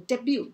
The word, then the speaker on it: debut: 好，那这个 debut 这个字很常见，给